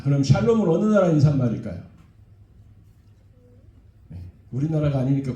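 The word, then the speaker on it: שלום: 샬롬. 예, 발음 잘하셔야 돼요. 샬롬이 아니에요. 샬롬.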